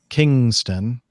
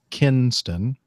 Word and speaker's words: Kinston: here in my country pronouncing India Sierra Oscar pronounced Kingston when the actual navigate is Kinston Kinston North Carolina instead of saying Spartanburg they